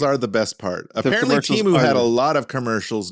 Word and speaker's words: Temu: Seth Meyers didn't learn because he still pronounced it Timu. He did. I noticed that. Yeah. So it's really Temu? It's really Temu, Oh, apparently.